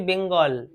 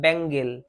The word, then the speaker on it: bangle: আমাদের দেখেই মনে হবে উচ্চারণ করি বেঙ্গল বেঙ্গল নয় ব্যাঙ্গেল ব্যাঙ্গেল মানে কি চুরি চুরি ছেলেরা